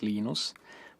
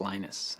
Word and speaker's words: Linus: came along Minister Linus which is exactly your preferred pronunciation when I speak Swedish it's heinous speak Finnish it's Lino's when I speak English its Linus and I really don't care how people browse my name but Linux is always